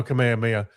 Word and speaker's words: Kamehameha: Kamehameha. Oh, Kamehameha. And that's the American pronunciation.